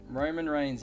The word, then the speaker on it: Roman Reigns: Roman Reigns.